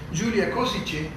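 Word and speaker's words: Gyula Kosice: mejor la podemos tomar, Julia Kosice, así se pronuncia, Julia Kosice, que tiene sus orígenes en Eslovaquia, en esa ciudad.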